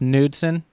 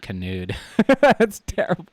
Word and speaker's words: Knudsen: guy yeah oh wait it's pronounced Knudsen that escaped the case on nuts in the case on Hudson but I don't I don't know I was saying canoed okay well kilometers Davis